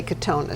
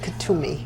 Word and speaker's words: Kuthumi: Master Kuthumi. Kuthumi, and I always want to say Katona, so I didn't say it. Kuthumi.